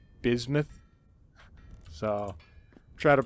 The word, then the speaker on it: bismuth: And yeah, I realize I've been pronouncing that wrong. Like this whole time I've been calling it bismuth, and it's actually bismuth.